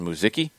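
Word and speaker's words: Muzhyky: uh music m-u-z-h-y-k-y okay would you pronounce that in muziki yeah i would that is the men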